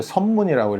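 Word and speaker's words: 섭문: 이렇게 해 가지고 어 엽문 아니고요. 선문이라고 읽어야 됩니다. 예, 선문 그 성섭자 성에서는 섭자로 읽는 거고 어, 보통 때는 입엽자로 읽는 거고 그래서 원래는 선문이라고 읽어야 돼요.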